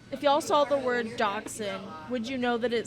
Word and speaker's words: Dachshund: Dachshund is how that's pronounced.